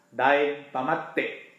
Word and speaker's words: Daeng Pamatte: Dayu pamatte' Thailand pemetik jadi pengucapannya harus jelas Daeng pamatte jangan jadi jangan di disebut tim Tomate Daeng pamatte double tip